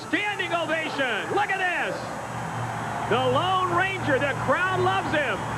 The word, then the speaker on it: Lōn: extra added attraction The Lone Ranger that is pronounced lone but it is spelled L o n we were calling it long-range earlier is the Lone